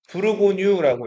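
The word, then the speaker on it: Bourgogne: 그리고 이거를 프랑스로 읽으면은 브루보고뉴라고 읽어요.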